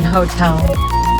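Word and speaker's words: hôtel: H in bracket, ash. Silent in hotel.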